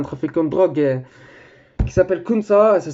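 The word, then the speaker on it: Khun Sa: Je vais vous parler d'un trafiquant de drogue qui s'appelle Kunsa, ça s'écrit, si vous voulez voir, ça s'écrit K-H-U-N-S-A.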